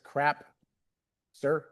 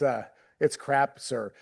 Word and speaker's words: Crapser: So just to, when we get started here, it's Krapser. It's okay to say it like that. Everybody wants to make it sound better than it is and dress it up a little bit, but it's Krapser.